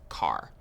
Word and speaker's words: char: Chars. So chars are used for variables that will store single characters. Char is short for character, and sometimes you might hear people pronounce it as car.